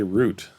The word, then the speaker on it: route: Route. I would say what route are you going today or what is your the route you're taking? What is the route you're taking? Either of those works for me. I don't know if I would I'd probably say root is probably what I'd start with. Yeah. But both sound okay.